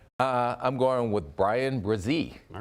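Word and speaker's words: Bresee: you going with uh I'm going with Brian brazee all right how's my pronunciation fantastic job first round pick on names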